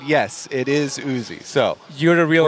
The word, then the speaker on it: Uzi: because there has been discussion on how to pronounce Uzi yes we did get confirmation from player management